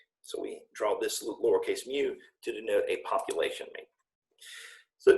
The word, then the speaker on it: mu: probably spell it but you pronounce it like mu like a kitten like a cute little kitten mew mew mew so it's a lower